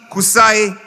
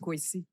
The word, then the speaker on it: Kwasi: Please make welcome warmly Kusai. I was saying my name is just Kwasi. And not Kusai.